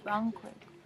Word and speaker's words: banquet: Banquet or banquet. Okay, so I would say this word banquet. Banquet. So a like a AI sound. Banquet. Banquet. You're saying like ban, but banquet.